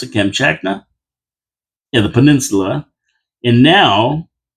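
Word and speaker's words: Kamchatka: And that's how you pronounce it. Camchakna.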